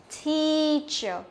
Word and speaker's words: teacher: Teacher, theo các bạn cái EA đấy là âm gì vậy? Nó là âm Y dài nhá.